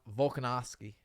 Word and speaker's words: Volkanovski: How do you pronounce his name? The it. Russian dude. Volkanovski.